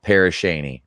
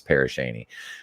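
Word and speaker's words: Pere Cheney: town in Crawford County West of grayling pronounced parish Shaney okay so it is parish Shaney the town was settled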